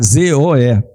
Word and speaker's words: zoe: Como é que se escreve? Vamos lá para adiantar, é Zoe, tá? Z-O-E, Zoe.